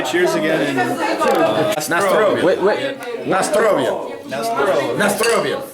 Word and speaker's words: na zdrowie: Nastrovia. Wait. Nastrovia. Nastrovia. Na zdrowie.